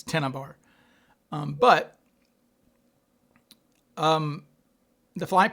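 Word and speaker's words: Tena Bar: I think she did say it correctly. It's tennibar.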